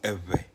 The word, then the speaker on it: Ewe: but when it comes to ghana it is pronounced as ever it is a language that is found in